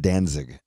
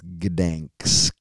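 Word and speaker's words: Gdańsk: Or I think it's pronounced Danzig, but it's Gdansk. That's what it looks like.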